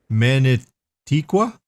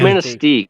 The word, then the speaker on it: Manistee: Manitiqua? Is that how you say it? I don't know how you say it. Manatee? Manitique? Hold on, I gotta zoom in. Hold on. Yeah, I think it's that's Manistee.